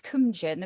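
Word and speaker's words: Cóemgen: Well, in Old Irish, it's Cumjan, apparently, and then in newer Irish, it's Cuivine.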